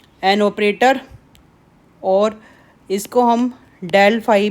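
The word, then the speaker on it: del: इसको हम डेल से प्रोनाउंस करते हैं.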